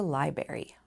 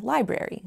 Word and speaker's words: library: My silly sentence included 3 questionable pronunciations: mischievous instead of mischievous, nuclear instead of nuclear, and library for library, all of which are in our dictionaries.